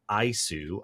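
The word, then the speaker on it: ISOO: audit of nara's information security oversight office pronounced ISU i o to determine the effective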